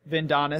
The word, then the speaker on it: Vendonis: Come on, it's Adonis with a Vin. Vendonis.